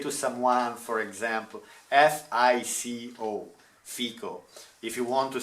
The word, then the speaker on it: fico: It says, how to safely pronounce fig in Italian? Fico.